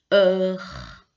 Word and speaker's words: heure: H, c'est une lettre qu'on ne prononce pas d'habitude en français. Donc on dit simplement hôtel, heure. On ne prononce pas le H.